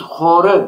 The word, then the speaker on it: horu: Evet, siz horu diye telaffuz Aynen. ediyorsunuz, doğru mu? İki sesli harf yerine bir o veya u harfiyle horu diyorsunuz. O harfiyle bitiriyoruz hocam.